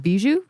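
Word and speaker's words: Bijou: Theaters with names like the Was it Beiju? Beiju.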